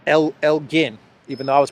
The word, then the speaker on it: Elgin: There still is a lot of talk about the Elgin marbles. Everyone says that it's pronounced Elgin, even though I was pronouncing it Elgin.